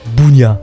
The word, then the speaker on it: bougnat: Prononcé à l'Auvergnat, a fait charbonnier. D'où le surnom Bougnat.